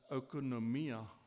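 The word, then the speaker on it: οἰκονομία: The Greek noun translated stewardship is the word oikonomia. Oikonomia, it's pronounced.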